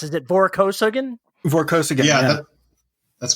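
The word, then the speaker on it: Vorkosigan: vorxican saga i'm not sure how does it pronounce is it voraco sagan vorkosaga yeah that's correct i don't know i'm not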